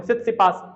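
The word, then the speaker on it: Tsitsipas: य रहे ये देखो स स पास य स्पेलिंग टी साइलेंट है इसमें ध्यान रखना स सी पास आपको टी छोड़ देना है हर बार स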